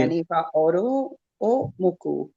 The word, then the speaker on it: Iyanifa Oorun O Mocu: It's Iyanifa Oorun O Mocu. Did I say it right? Yes. Thank you. Iyanifa Oorun O Mocu.